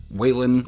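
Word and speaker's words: Whelan: Book Is Beautiful Michael I think it's whan I think is how you say his name Michael whan oh my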